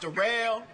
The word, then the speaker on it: Daryl: uh my name derell it's spelled like Daryl but it's pronounced derell uh yeah I just